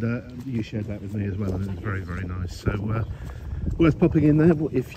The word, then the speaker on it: Soo: And I deliberately say it like that, and we kind of all do here, because it's spelt Sue, S-O-O. You actually pronounce it So. So everyone tends to say it very fiercely.